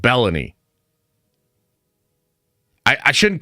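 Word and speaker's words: Belloni: out to Matt uh baloney I got to figure out how to say his name better cuz his name isn't baloney I think it's like bellany I I shouldn't call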